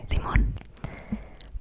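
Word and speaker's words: simón: people might answer with zimon zimon yes zimon s i m o n n with an accent on the o like the name Simon except it's in Spanish and you say zimon so if someone asks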